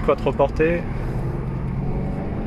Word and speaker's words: Quattroporte: Un Maserati quattroporté. Si on la prononce à l'italienne.